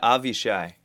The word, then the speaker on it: Avishai Cohen: they were they played is it a Vashi Cohen or Avishai Cohen I'm never sure how to pronounce his name yeah avi shy yeah I believe the